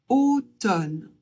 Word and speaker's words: automne: A et U, ça fait O. Donc un O fermé, toujours. Le O, on le prononce comme un O ouvert. O. On ne prononce pas le M. On se contente de prononcer le N et le E à la fin, on ne le prononce pas non plus. Donc ça donne automne.